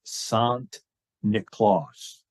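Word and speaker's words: Sint Nicolaas: So the Dutch pronunciation of Saint Nicholas is Sant Nicolaas.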